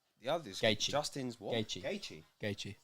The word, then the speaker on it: Gaethje: Gaethje.